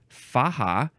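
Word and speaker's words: faja: American Spanish uh dominative of the Spanish word faha f Aja a which means sash or belt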